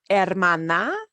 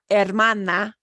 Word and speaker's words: hermana: El hermano e la hermana si is and notice with these words that start with h we don't pronounce the h the H is silent daughter El hermano Brother LA hermana sister okay if I